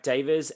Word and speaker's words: deva: You then have devas and nature spirits. So a deva or a Yes. diva, depending on how you pronounce it.